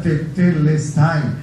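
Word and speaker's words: τετέλεσται: hay unas letras raras esa palabra en griego significa que una deuda ya está pagada se pronuncia testy es una sola palabra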